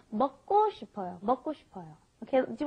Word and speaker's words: 먹고: So anyway, for some reason, when you got that K, the giuk, followed by another giuk, it ends up being a double giuk most of the time. So it's not 먹고 싶어요, it's 먹고 싶어요, 먹고.